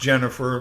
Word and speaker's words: Dženifere: on and on uh it's pronounced jennifer but the spelling makes